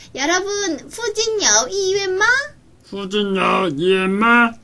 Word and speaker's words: 附近: 자, 근처는 이렇게 얘기하는데 후진. 후진. 후진. 후진. 후가 아니야. F 발음 넣어서 후진.